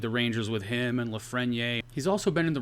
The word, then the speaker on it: Lafreniere: Or Lafreniere, got a friend in need. Lafreniere, Frigidaire.